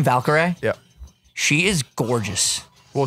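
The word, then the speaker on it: Valkyrae: Is that how you say her name, Valkyrie?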